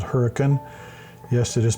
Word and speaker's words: Hurricane: is within walking distance of a town called Hurricane. Yes, it is pronounced hurricane, not hurricane.